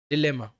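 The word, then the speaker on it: dilemma: Next है हमारा डिलेमा, है ना। इसको डिलेमा भी कहते हैं, इसको डायलेमा भी कहते हैं। दोनों अलग अलग प्रोनाउंसिएशन है रीजन के साथ, मैटर नहीं करना चाहिए।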